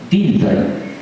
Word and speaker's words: Dilthey: Había un gran alemán, Dilthey, pronunciamos en alemán, Dilthey, que dijo que la ciencia del hombre no podía ser la ciencia de la naturaleza.